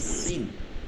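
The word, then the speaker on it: س: দুইটা হবে ঠিক আছে একটা সিন সিন একটা হচ্ছে শিন উচ্চারণটা একদম বিপরীত হবে শব্দ আসবে সি শব্দ আসবে যেমন কড়াইতে মাছ দিলে তেলের মধ্যে মাছ দিলে যেমন সিরসির করে একটা আওয়াজ চলে আসে ওইটা হবে সিন আর স করে যে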